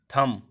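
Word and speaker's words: thumb: एल ए एम बी, यहाँ पे भी वही कंडीशन लागू हो रही है, लैम, इसको टी यू एम बी, थम, इसको थम पढ़ेंगे, बी साइलेंट रहेगा यहाँ पे भी।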